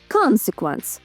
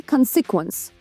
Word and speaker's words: consequence: Наголос тут саме на перший склад. Consequence, не consequence.